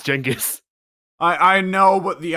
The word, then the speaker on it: Genghis: big changes is funnier because chingus is actually closer to how you're supposed to pronounce genghis i i know what